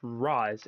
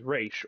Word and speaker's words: Ra's: So in Arabic, it's pronounced as Roz, and in Hebrew, it's pronounced as Raish or Rosh.